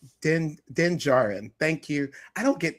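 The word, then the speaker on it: Djarin: Pedro Pedro Pascal, who is the person who plays Mando or Den Denjardan. Is that how you say it? Den Jar Jarin. Den Denjarin.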